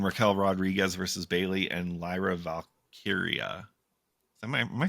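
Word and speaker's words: Lyra Valkyria: Liv Morgan and Raquel Rodriguez versus Bailey and Lyra Valkia.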